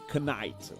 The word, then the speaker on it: knight: Night is with the K. It's knight, like knight.